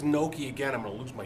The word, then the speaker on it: gnocchi: Like gyro, and they just So like, it's not gnocchi. It's gnocchi. Gnocchi. Gnocchi. and gnocchi. That's how you say it.